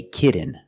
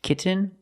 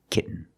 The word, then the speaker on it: kitten: But don't say kitten. I cannot pronounce these T's as a fast D. I cannot say kitten. It's kitten, or more commonly, kitten.